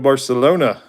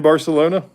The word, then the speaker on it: Barcelona: You in Does that mean that you're in Barcelona? Or is it Barcelona? You have to say Barcelona? I heard somebody say that on TV once. I didn't know that. That's how they pronounce it.